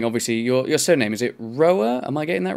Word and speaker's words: Rohrer: So we've just Americanized it to Rohrer, like a lion. Okay, well, Jason Rohrer. Like just Rohrer, like one syllable.